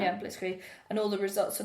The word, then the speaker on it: Blitzkrieg: Yeah, Blitzkrieg.